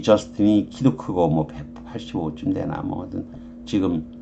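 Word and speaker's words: Justin: 이거 불어식으로 발음하면 G스탱이고요. 영어로 하면 그냥 저스틴이 되는 거죠.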